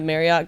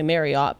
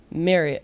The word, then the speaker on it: Marriott: They all say Marriott, but it's it's Marriott or he said it's like Chariot.